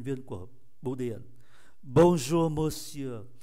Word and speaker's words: monsieur: Bonjour monsieur, monsieur tới chữ y này là hết, không phát âm cái e này.